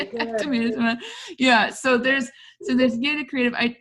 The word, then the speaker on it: Yada: So there's Yada Creative. I do pronounce it Yada, but then there's like a branch that doesn't, and it was a foreign language anyway, so nobody knows. Anyway, so and then I,